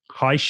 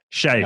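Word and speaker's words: Hsieh: And then the other thing that strikes me is I read an article from Tony Heisch, is it? I don't know sure how you pronounce it. Shea, sorry, Tony Shea from Zappos.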